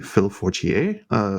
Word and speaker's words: Phil Fortier: We also have the lovely Phil Fortier, who, did I pronounce that correctly? I feel like it should be French.